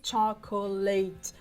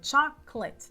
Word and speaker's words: chocolate: A mesma escrita, mas a pronúncia é diferente, tá? A gente não diz chocolate, muito menos leite, tá? É chocolate, duas sílabas, chocolate, chocolate, tá?